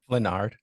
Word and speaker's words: Flenard: the mayor Elie D how do you say your last name fenard fenard I got it right how you doing today